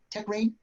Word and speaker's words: Techrein: Am I pronouncing Techrein. that right? Techrein?